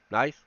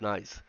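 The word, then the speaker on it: gneiss: terrains and uh uh night nice I guess that's pronounced nice uh domains uh demonstrate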